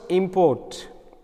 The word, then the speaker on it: import: example the word UT becomes a noun if accent is on the first syllabus in the words import IM and put so it has a uh two syab word first is M and the second is put so the accent is on IM so the we need